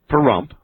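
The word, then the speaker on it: Pahrump: That's Post Office Box 460 in Perump. Do not laugh at the name of my town. I'm going to spell it for you.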